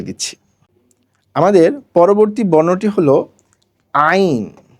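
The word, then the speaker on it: عين: আমাদের পরবর্তী বর্ণটি হলো আইন। আইন বলার সময় আমরা 3 আলিফ পরিমাণ টানব।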